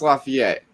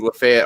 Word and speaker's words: Lafayette: lafayette all the time i knew how to pronounce it quote unquote correctly i just didn't bother because i thought saying lafayette was funny because i'm putting a french thing on it's like it was